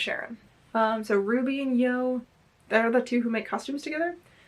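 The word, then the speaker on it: CYaRon: I always say Ron, but I saw someone say it's pronounced Sharon.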